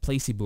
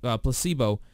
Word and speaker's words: placebo: a meeting about its I said it wrong I said play placebo or play see boo or something like that yeah I said play see boo but for Pacific placebo I would go ahead